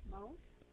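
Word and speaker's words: moult: Molt? M-O-U-L-T? How do you read it? How do you say it? I read it as molt.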